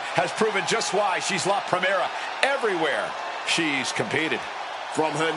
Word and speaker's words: La Primera: You need to roll your Rs a little bit on that, man. La Primera.